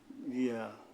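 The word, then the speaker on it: ي: মেনে আদায় করতে হবে নিয়মটা হলো জিহ্বার মাঝখান থেকে নরম ভাবে আদায় হবে ইয়া ইয়া ইয়া ইয়া জিহ্বার মাঝখান থেকে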